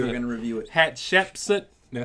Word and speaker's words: Hatshepsut: Hatshepsut. Did I say it right? Yes. Hatshepsut.